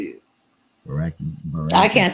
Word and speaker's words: Brækhus: First off, Cecilia Brækhus was making that money.